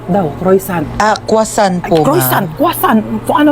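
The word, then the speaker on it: croissant: Croyant daw. Croisant. Ah quasant po.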